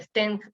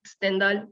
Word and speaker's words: Stendhal: esto es un síndrome no se pronuncia stent stendhal por de privación y